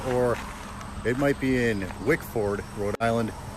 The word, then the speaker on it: Wickford: it might be in wickford rhode island the locals pronounce that wikfid by the way sorry rhode islanders if that's wrong i'm a rhode islander